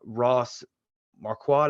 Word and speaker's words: Marquardt: I cannot pronounce this guy's last name. Ross Marquardt, I want to say that's how it's pronounced.